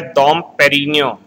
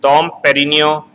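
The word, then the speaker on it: Dom Pérignon: That's why Dom Perignon, here G word is silent, Dom Perignon is considered as the father of the Champagne.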